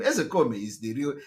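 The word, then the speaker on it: Ozekhome: Ezekome is the pronunciation.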